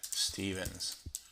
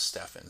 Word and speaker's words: Stefan: call it uh Stevens a lot of people pronounce my name that way even though it's Stefan so we'll call it